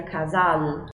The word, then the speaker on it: casal: Mas você concorda comigo que a gente não pronuncia casal? Casal. A gente não diz casal no português. A gente diz casal. Casal. Ou seja, essa letra L, pra gente, ela acaba tomando um som de letra U.